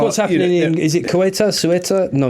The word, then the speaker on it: Ceuta: How do you say Ceuta. Ceuta.